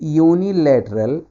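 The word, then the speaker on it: unilateral: जान देगा, ये यूनिलैटरल, यूनिलैटरल ये से स्टार्ट होता है, ये।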